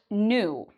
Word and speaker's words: knew: So, again, the "k" is silent. You'll notice that the letter for the vowel in the middle is different; it's now an "e", and the pronunciation is different. We have: "know", "knew", "ew". So, it has that "ew" sound in it. So, let's just start by saying: "ew", and now let's add the "n": "knew", "knew". You might also know this word: "new", like "old" and "new" — same pronunciation.